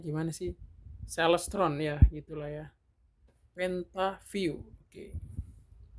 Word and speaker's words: Celestron: Bacanya gimana sih? Celestron ya, gitulah ya.